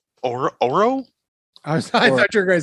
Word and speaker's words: Oro: sir uh Carmelo Hayes versus I think our pronouncing his uh first name right or Oro I thought you were gonna say Nathan it's